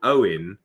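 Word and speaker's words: Eoghan: my my friend uh his brother was called Owen which of course in the Welsh is where we write in English is o w e n but in Irish it's like e o g h a n or something yeah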